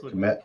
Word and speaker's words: Kmet: Kmet.